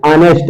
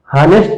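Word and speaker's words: honest: लिखा है, ठीक है, बट इसको जब पढ़ते हैं तो प्रोनाउंसिएशन इसका क्या करते हैं, आनेस्ट आता है। क्या आता है, आनेस्ट, आनेस्ट, हानेस्ट नहीं होता है।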